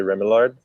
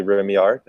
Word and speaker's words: Remillard: Well, half of my family is in Vermont, and they say Remillard, Okay. but the French side would be Remillard.